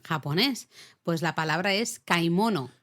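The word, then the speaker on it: 買い物: pues la palabra es kaimono kaimono no es como leería un inglés kimono kaimono kaimono no kaimono De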